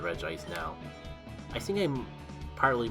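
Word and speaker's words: Regice: up the longest time I would pronounce it Reggie ice I'm not sure if I just if it was a fluke or if I actually do pronounce it Red Ice now I think I'm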